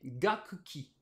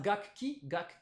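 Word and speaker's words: 楽器: Alors, les lectures sino-japonaises sont gaku plus ki, ce qui devrait nous donner gakuki. Mais ça, gakki, c'est pas évident, c'est pas hyper naturel à prononcer pour les japonais. Gakuki. Du coup, le second kana du premier kanji, ce ku, se transforme en pause, ce qui nous donne gakki, hein, ce mot qu'on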